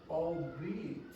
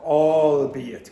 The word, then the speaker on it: albeit: Oh, albeit. Open your mouth more. Albeit. Albeit.